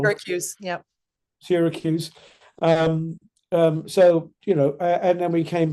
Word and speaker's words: Syracuse: Syracuse.